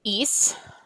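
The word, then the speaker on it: hizo: If I add this O to is, the C would be pronounced eco. But I still want it to sound like hacer with a s. So that's why that becomes a Z.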